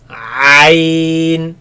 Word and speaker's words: عين: So the ya is actually the same, but in practice is the same as e, because when we say this, we say We end up in the E sound, yes. But the ayn here would be pronounced with the fatha, which is a. Instead of e, we say a.